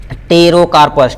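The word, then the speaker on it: Pterocarpus: आते हैं केस पे तेरो कॉर्प्स तेरो कर पर पी साइलेंट होता terocarpose जो जूस से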